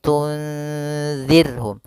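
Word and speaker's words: تُنْذِرْهُمْ: Kemudian pada lafal zir, di sini ada huruf ra yang sukun didahului dengan kasrah, maka ini kita namakan dengan ra tarqiq, ra yang tipis dalam pelafalannya, jangan dibaca tunzir. Maaf, tunzirhum, tunzirhum. Ini tebal ra-nya.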